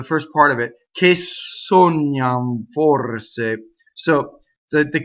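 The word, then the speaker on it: sognano: So you're going to say sognam forse.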